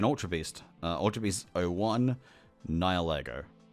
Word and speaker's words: Nihilego: Ultra Beast 01, Nihilego. And if people are saying, "Oh, you're pronouncing it incorrectly," no, you're not. You are. Because that's how you pronounce it.